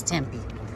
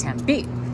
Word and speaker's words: Tempe: now we're in tempe i didn't know how to pronounce it until i spent some time here that was tempe but it's tempe c2 back on the